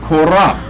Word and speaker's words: Korach: Well, here you see his name, Korach.